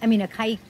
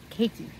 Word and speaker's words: caique: That's how they pronounce Caique in like Australia or somewhere, and I love it. Caique.